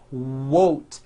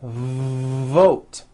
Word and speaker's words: vote: not to do this the word is not wot it's V vote every V that you will see in English is made with this lip biting position vvv when you see a v it's never w w it's never a w sound it's always v v vote like that let's practice